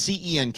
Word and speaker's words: Cenk: look Jen I I have I've covered it's cenk it's it's pronounced Jen Jen and I obviously don't agree on a